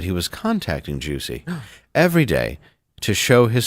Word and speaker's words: Jussie: correct pronunciation that he Okay. requested at the trial. Oh, Yes. It is Jussie Yes.